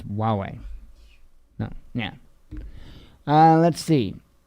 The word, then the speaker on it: Huawei: huawei because you know it looks like a huawei but it's it's huawei no yeah uh let's